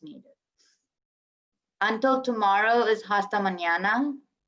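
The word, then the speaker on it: mañana: until tomorrow is hasta manana the squiggly line of the end that's like you need to say through your nose the n like the squiggly line with the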